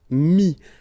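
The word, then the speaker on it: mis: And then mettre, to put, so ETTRE will give you this IS, mi, same thing here, final S is not pronounced, mi, okay.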